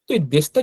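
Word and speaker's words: です: উচ্চারণ কি বলা আছে শেষের যে ইউটা অনুচ্চারিত থাকে এইযে ইউটা এইযে লেখা এই ইউটা অনুচ্চারিত থাকে অর্থাৎ সাইলেন্ট থাকবে উচ্চারণ হবে না।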